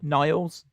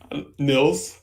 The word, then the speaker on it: Niles: Yeah, because that's his name, Niles. Well, how else would you pronounce it? Nils. Nils. That's not his name.